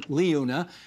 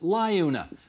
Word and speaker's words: LiUNA: to ask Joe Mancinelli, who pronounced the name of his union Liuna, but when your daughter was on this program a few months ago, she pronounced it Liuna. Who's right, Joe? I think we're both right.